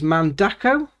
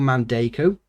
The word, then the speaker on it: Mandako: very nice this is mandako oh but how you pronounce sort of mandeco the five plex roller